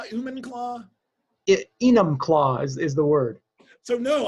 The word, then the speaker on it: Enumclaw: and i i do i say it right human claw human claw enum claws is the word so